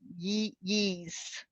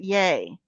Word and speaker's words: Ye: Oh, yay. You pronounce it yay.